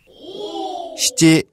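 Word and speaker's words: しち: 근데 7은 나나 말고 다른 발음이 또 하나 있죠. 네. 뭐죠? 시찌. 네. 나나. 시찌. 네. 요게 둘 다 7이고요.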